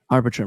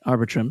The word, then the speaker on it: Arbitrum: Anyone know how to pronounce it? Arbitrum, right? Arbitrum.